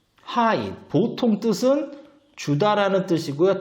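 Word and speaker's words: ให้: 역시 고자음에도 이게 붙으면 이성이 되는 거죠. 그래서 발음은 하이.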